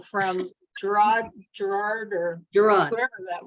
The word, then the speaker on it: Gerard: Gerard.